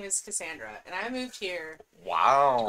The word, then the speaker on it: Cassandra: It's a soft C. Yeah, it is, but it's not.